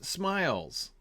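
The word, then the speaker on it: Smials: Bellon the Wise asks, how does one pronounce smiles, as in the ancestral home of the Tooks?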